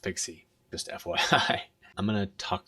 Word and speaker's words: PKCE: just went through and it's not pronounced pkce it's pronounced pixie just FYI I'm gonna